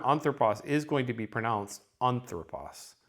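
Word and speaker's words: ἄνθρωπος: The word anthropos, you're going to expect the accent to be on the first syllable.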